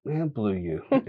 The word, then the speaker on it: Blue Ewe: blue something blue something I was like you it Rhymes blue and U rhy so it's like blue youu it'll work it's a